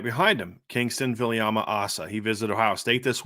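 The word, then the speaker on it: Viliamu-Asa: So what's the latest you're hearing with Kingston Viliama-Asa? And I'm saying that now that way. I've been saying Ace in the past.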